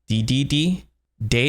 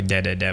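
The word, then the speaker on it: Dedede: DD D de day so in the west we pronounce it DDD and in Japan it's actually dead de de but I will be saying DDD I'll stick to the American version I'm extremely confused so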